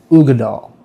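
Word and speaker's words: Uigeadail: This is the arbeg ugad doll. So you pronounce that word there, ugad doll.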